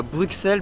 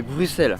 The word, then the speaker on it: Bruxelles: vous l'avez compris bruxelles d'ailleurs enfin bien prononcé ce mot que je peux vous dire que j'en ai mis du temps avant de comprendre qu'on disait pas bruxelles mais bruxelles enfin bref on avance